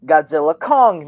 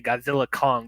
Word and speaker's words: Godzilla x Kong: the director has said you're not supposed to say the X it's just Godzilla Kong new Empire yeah I